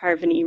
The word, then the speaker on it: Harvoni: came along Carboni our harvoni depending on who you ask the drug rat said they liked the idea of Harvin II rhyming with harmony so that's what I